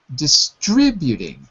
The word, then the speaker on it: distributing: So here, distribution is correct, but we have to say as a verb, start distributing. Start distributing. Distributing. Distributing. Yeah. So the stress is on the distributing.